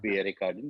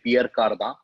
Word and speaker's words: Pierre Cardin: It is Pierre Cardin, 10 points. Or like French would say Pierre Cardin.